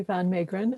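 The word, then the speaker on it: van Meegeren: to believe that he's won over and obviously van maygren i've just learned how to pronounce his name thank you for that tim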